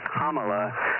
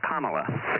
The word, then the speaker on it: Kamala: the way it's pronounced Kamala the emphasis on the first syllable kind like the punctuation mark comma like a comma and just add a on the end so it's Kamala not Kamala I know